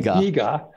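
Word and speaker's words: DiGA: of it the Deo the de if I'm pronouncing correctly we we say dega incidentally there's there's a nice story behind that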